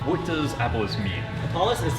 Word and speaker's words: Apolis: Apolis, like UH, Paul, Apolis. Apolis.